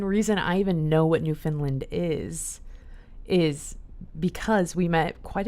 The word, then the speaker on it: Newfoundland: She said Newfoundland, but Newfoundland is like the right way to say it or whatever.